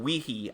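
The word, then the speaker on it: Wehe: what happened someone this this app is called wiki I hope that I'm pronouncing it correctly it's w e H e this application is now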